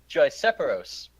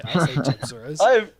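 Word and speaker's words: Gypceros: he's been calling it Gypseros. No, sorry. Gypseros is one of the... No, he's been saying Gyseperos. Whoa. I say Gypseros. I've corrected it multiple times. That is not the order of the letter.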